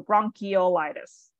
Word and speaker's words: bronchiolitis: one of the exceptions so that is actually pronounced as e so bronchiolitis um bronchiolitis yep all right this is this